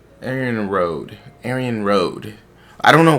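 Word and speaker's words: Arianrhod: Arian Hood. Is it really Arian Hood? Arian Road.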